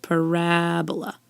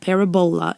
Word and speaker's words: parabola: called a parabola and accenting the second syllable on the word parabola not parabola it's not a disease